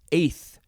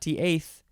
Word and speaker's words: eighth: Eighth is next. EIGH eighth. TH. Not T-eighth, TH.